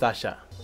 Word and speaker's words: Asake: First of all, why is this pronounced Asha? If I talk right now, then go see. So who is Asake?